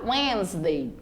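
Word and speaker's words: Wednesday: aí nesse início choosday já quarta-feira eu tenho pronúncia de Wesley tem um sonzinho nasal aí tá winsday já quinta-feira é hora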